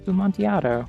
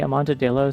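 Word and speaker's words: Amontillado: I know that's not how that's pronounced. It's Bumontiato. Why did I say it like that? I've heard somebody say it wrong and say Amontadillo so many times recently.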